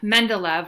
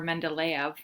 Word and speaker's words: Mendeleev: So Mendeleev, or Mendeleev, depending upon who's pronouncing it, as we know from